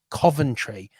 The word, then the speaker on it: Coventry: for our American listeners it is pronounced Coventry I have I cannot